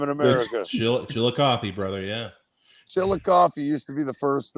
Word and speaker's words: Chillicothe: I just went out to Chickaloaf, Ohio, right? Chillicothe. Chillicothe. Okay, Chillicothe. How the hell do you know the pronunciation of that town?